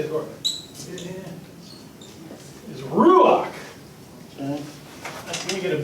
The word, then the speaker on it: ruach: The word in Hebrew, I'm not going to write it with the Hebrew characters because but it's pronounced ruach, or ruach, you got it, ruach, okay, in the Hebrew.